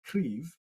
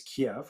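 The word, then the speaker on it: Kyiv: so troops have slowly been advancing move towards the capital city of cleve which most people pronounce as kiev i was corrected just before the show um they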